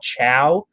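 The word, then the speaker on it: Chao: is available in the uk but it's called chow uh c-h-a-o that's how that's pronounced um it is it's not awful i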